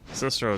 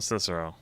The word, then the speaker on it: Scirocco: Like I tried to say it like in Japanese, like Siroko. 'Cause it sounded more natural than trying to figure out it was spelled Scirocco.